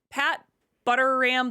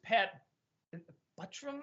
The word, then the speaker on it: Pat Buttram: I think it's Pat Buttram, I think is how you say it. My brain. Walter said it right, and I think I said it wrong in the review.